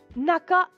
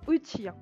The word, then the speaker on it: 中: Donc, vous avez en face de vous le kanji qui veut dire intérieur et qui se prononce en lecture kun, naka, naka, l'intérieur, ou parfois uchi.